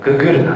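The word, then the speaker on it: GGRNA: 名もですねこれ統合遺伝子検索ググルなと読みます Google ちょっと Goog っぽい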